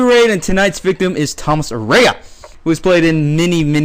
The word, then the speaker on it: Tomas Arana: Well, I can help you with the pronunciation of my name. It's Yes. Tomas Arana. Tomas. Okay. There we go. It's Tomas, everybody.